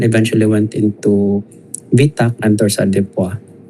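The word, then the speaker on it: torsades: went into VTA and torsadua it's pronounced as dorsa so uh unfortunately Uh the patient expired.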